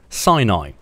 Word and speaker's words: Sinai: It's not pronounced Sinai, it's pronounced Sinai.